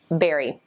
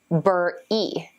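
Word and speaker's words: bury: students mispronounce it as burr II but that's wrong it's very very it's pronounced exactly like berry as in strawberry or blueberry to help your member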